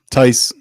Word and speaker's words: Tice: Tice rhymes with dice.